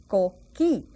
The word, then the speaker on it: coquí: And we pronounce it coqui, Q-U. Do you remember that U is silent?